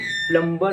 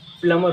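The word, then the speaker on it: plumber: जो अगला वर्ड है, ज़्यादातर लोग इसको प्लम्बर पढ़ते हैं, लेकिन इसकी राइट प्रोनाउंसिएशन प्लम्बर नहीं होती, प्लमर होती है। प्लमर, इसमें बी साइलेंट होता है।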